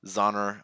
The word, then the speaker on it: Xonor: anywhere under the tag Zoner or Zoner Band, mostly Zoner Band, and Tik Tok is Zonerband official. It's spelled X O N O R, not with a Z, with an X.